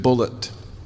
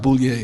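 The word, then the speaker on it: Bulliet: He spells his name B U L L I E T. And he pronounced it bullet. He corrected me. He said, "No, my name's not Bouier.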